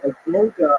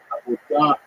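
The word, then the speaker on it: עבודה: The word avoda in Hebrew, avodah in modern Hebrew, and Sephardic pronunciation, it's hard to translate properly.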